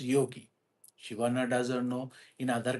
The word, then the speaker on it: yogi: So you can also some people call yoji but generally in English in India we call it as yogi.